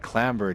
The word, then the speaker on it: clamber: up yeah I did oh my god people pronounce that clamber dude you know what that's how it's pronounced